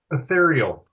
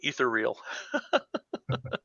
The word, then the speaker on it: Ethereal: on some me Old-Timers ethereal ethereal I like to see how people pronounce it some people say etheral it's like yeah was